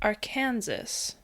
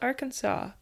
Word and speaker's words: Arkansas: to be confused with Aranansas, which is the wrong way to say Arkansas. What? Cuz it's spelled our Kansas, but it's apparently pronounced Arkansas.